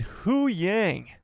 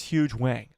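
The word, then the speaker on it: Hu Yang: huge way I mean h yangang a lot of you guys have been complaining about the way I pronounce his name and you know what you're right okay you're right it's huge Wang okay okay where does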